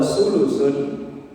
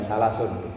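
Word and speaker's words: ثلث: Wa sulusun, bacanya bukan salasun, sulusun, sepertiga. Kalau salasun 3, kalau sulusun sepertiga.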